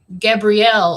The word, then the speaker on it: Gabriel: And, you know, most females, the name would be pronounced Gabrielle or Gabriella. Well, my parents decided to pronounce it Gabriel. So it's like halfway between the feminine pronunciation of Gabrielle and the masculine Gabriel. So mine is Gabrielle.